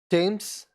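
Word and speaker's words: Thames: दे दे आगे बढ़ कई बार टी एच हिंदी का अक्षर ट टी की ध्वनि देता है जैसे टेम्स थम्स नदी बहुत लोग इसको थम्स भी बोलते हैं कभी कदार य होता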